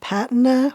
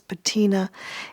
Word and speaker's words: Patina: So the one that I like the most is in the shade called Patina, or I guess Americans might pronounce it as Patina.